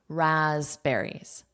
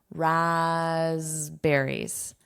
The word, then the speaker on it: raspberries: raspberries raspberries This P is not pronounced.